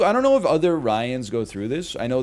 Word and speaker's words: Ryan: Ryan is not an easy one, because it's like, it's two syllables, but it's also like kind of one syllable. It's like 1.5 syllables, because you could either say Ryan, Daryl. I looked this woman in her optic stems and I said, Hannah, Banna, Bobanna. But you can also make it one syllable.